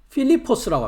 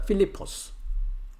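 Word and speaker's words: Φίλιππος: 어 헬라어 발음은 오른쪽을 보시면 한글은 빌립 영어는 필립 이렇게 하는데 헬라어 발음은 필리포스라고 합니다. 필리포스.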